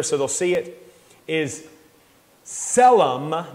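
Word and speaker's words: צֶלֶם: they'll see it is selem that t is silent selem it is a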